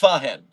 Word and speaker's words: Fahen: It's pronounced Fahen. Thank you for donating to clarify that. I will try to remember that in the future. Fahen. 2 syllables.